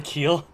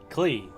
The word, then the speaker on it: Klee: Wait, you're waiting for Keel? Or Klee? Klee.